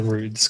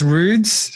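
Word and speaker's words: Rudeš: Well, I pronounce it Rudes because that's what the locals tell me. And, I speak in local slang. So it's Rudes to beat Sibilia Vinkovici.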